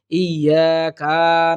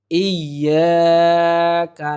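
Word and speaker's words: إِيَّاكَ: ইয়াকা নাবুদু এখানে আমরা অনেকেই সহজে হালকা ভাবে উচ্চারণ করি ইয়াকা নাবুদু ইয়াকা নাবুদু এরকম ভাবে যদি আমরা উচ্চারণ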